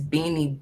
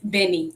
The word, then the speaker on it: Bene: bobbery came about so how you say is beanie beauty by bree it's benny like b why that's how you pronounce it yes beauty by bruce so how